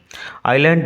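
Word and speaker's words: island: অনেক ফলের গাছ ছিল আইল্যান্ড বানান উচ্চারণ লক্ষ্য করো আই এস এল এন ডি এস আইল্যান্ড থাকবে স্মল আইল্যান্ড একটি ছোট্ট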